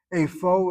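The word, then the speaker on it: איפה: Afo is where in the sense of location. Afoata, where are you? Not Apa? It's Apa. Afa? No, afo.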